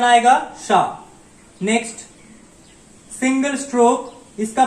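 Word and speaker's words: し: 1 2, pronunciation आएगा शा, 2 stroke pronunciation आएगा शा। नेक्स्ट सिंगल स्ट्रोक, इसका प्रोनाउंसिएशन होता है शी। ये थोड़ा सा ऑड है, इसको होना चाहिए था शी, लेकिन इसका प्रोनाउंसिएशन होता है शी, SHI शी।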